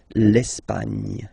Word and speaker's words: l'Espagne: Okay, don't insist on the final E because basically it's not pronounced. L'Espagne.